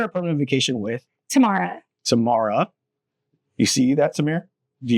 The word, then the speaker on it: Tamara: listening at home who are telling me I mispronounce it. So, we're here at Permanent Vacation with Tamara. Tamara.